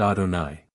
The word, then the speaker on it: Adonai: One Blessed Be he not as I my name am written shall I also be pronounced I am written yve and am pronounced Adonai four regulations concerning work which